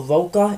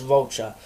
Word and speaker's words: Rocha: Zach De La Roca, it's either Roca or Rocha. I apologize if I'm not pronouncing it right, although I'm pretty sure it's Rocha. So I'm just going to say that.